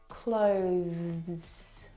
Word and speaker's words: clothes: tongue through your teeth now the th sound is very very soft it is definitely still there it needs to sound different from the verb close okay which doesn't have the th sound this word has the the T sound clothes clothes it's very short but it's definitely there I need to pack